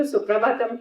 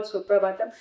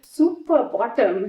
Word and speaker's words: Suprabhatam: Then he looked at some of the Western children and he said, do you know how Western devotees pronounce Suprabhatam? He said. So we all just kept quiet. He said, super bottom.